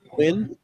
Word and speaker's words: Huynh: And this is Quinn. Am I pronouncing the name right? The English way is.